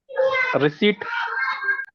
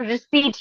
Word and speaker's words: receipt: word for the bill it's spelling is re r e c e i p t what is that word receip huh receip it's reset Reet okay or receipt you can say receipt don't ever say receip per use there is no use of P okay it's Reet understood